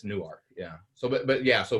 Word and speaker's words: Newark: it's in newark um which is spelled like newark but that's what they never heard that pronounced before okay so they that's what they say in jersey but in delaware it's newark yeah so but yeah